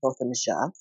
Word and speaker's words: Botham Jean: It's pronounced Botham Jean.